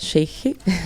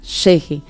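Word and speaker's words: Ch'ixi: E Cheche é C-H... Apóstrofo I, X, I. Essa é assim se escreve e se pronuncia Cheche.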